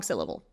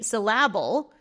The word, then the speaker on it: syllable: So maybe it's just on the wrong syllable. No problem. We just say, oh, it's on this one. If somebody said to me syllable instead of syllable, easy to fix because you can hear it because it's very strong.